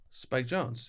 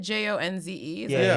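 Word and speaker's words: Spike Jonze: Spike Jones. Yeah, I I've been believe saying so. his name all the way wrong. How have you been saying Because it? isn't it Jonze?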